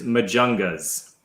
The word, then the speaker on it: Majungas: the name of your band and how to pronounce it can you do that for us sure it's majungas ah john you're right that was wrong and